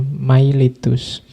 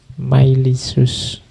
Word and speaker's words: Miletus: Iya talis of milicius meskipun tulisannya miletus kalau pakai lidah Inggris biasanya dibacanya mailitus tapi B pakai lidah Yunani myisus jadi talis of myisus